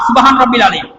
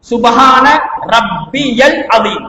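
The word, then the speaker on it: سبحان ربي العظيم: இந்த துவாட சரியா உச்சரிப்பு எப்படி தெரியுமா? சுபஹான ரப்பியல் அதீம். பொதுவாக சுபஹான ரப்பியல் அதீம். அந்த ரப்பிய யாக்கு ஃபத்ஹ் வச்சுதான் நாங்க ஓதுவோம். சரியா பார்த்தால் சுபஹான ரப்பி அல் அதீம் தான்.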